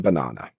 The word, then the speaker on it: banana: So best example I can give you is the word banana. There's three sounds in banana. The first sound is not stressed. B not ba b.